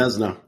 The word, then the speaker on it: Vezina: Vezina. It's spelled Vezina, but so that gave me my crisis of confidence for a second there.